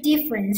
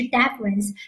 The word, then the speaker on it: deference: 了这个 deference，注意发音不是 difference，是 deference，那么它表示